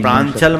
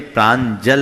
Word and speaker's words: प्रांजल: श्री रमेश जी, प्रांचल मत लिखना, प्रांचल शब्द नहीं, प्रांजल लिखना। वो आजकल की वो स्पेलिंग के कारण प्रांजल है, प्रांचल नहीं।